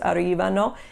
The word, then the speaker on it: arrivano: Notice how when we did the verb arrivare for the loro form, it was 4 syllables, arrivano, and the accent for that one is on the second syllable, arrivano, because it's 4 syllables in that loro conjugation.